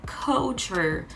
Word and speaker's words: culture: Porque o U não é som de U mesmo, é culture. Culture. Tem esse no final, né?